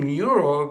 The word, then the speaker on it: Nuro: In fact the company's name neuro which is spelled nur o is actually an amalgamation of new robotics from the founders.